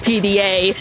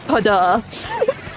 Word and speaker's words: PDA: It's not pronounced PDA, it is pada.